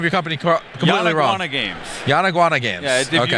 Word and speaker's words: Yanaguana: company completely wrana games yanaguana games yeah if you put the words yawn like oh I'm tired and iguana together real fast Yan iguana Yan iguana